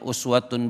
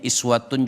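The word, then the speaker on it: أسوة: Kalau kita kembalikan ke ayat 21 ini, laqad kana lakum fi rasulillahi, ada yang bacanya uswatun boleh, ada yang bacanya iswatun juga boleh.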